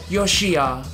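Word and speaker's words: Yoshiya: The proper pronunciation is Yoshia. For my first name, is my last. So, Joshua is not exactly accurate.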